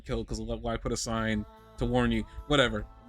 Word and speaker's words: Sein: Except in the anime they were kind of pronouncing it with a Z, like Zine. I noticed, even though it's SEIN. In the anime, I thought I heard them say Zine, which would be it's